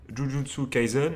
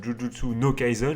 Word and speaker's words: Jujutsu Kaisen: deux premiers épisodes de Jujutsu kaison et non pas judjutsu no Kison j'ai envie de mettre un no à chaque fois ça m'énerve donc si